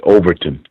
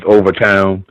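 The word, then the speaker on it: Overtown: guys mentioned something about you pronounce it Overton but it's properly known as over town yeah so am i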